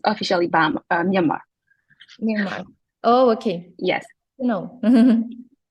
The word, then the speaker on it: Myanmar: Is that the right way to say the country? Yes, correct. Now it's Myanmar.